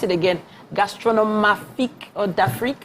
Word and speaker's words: d'Afrique: And please pronounce it again. Gastronomique or d'Afrique, how do you say it?